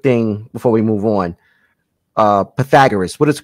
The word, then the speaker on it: Pythagoras: Pythagoras, what is the correct pronunciation of the name again?